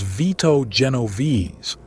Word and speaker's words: Vito Genovese: But the man who first put Galante to serious use was Vito Genovese — pronounced VEE-toh Jeh-NO-veh-say — one of the most calculating and ruthless figures in organized crime history.